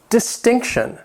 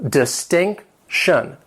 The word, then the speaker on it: distinction: Next, distinction. This word has 3 syllables. The stress is on that second syllable. Distinction.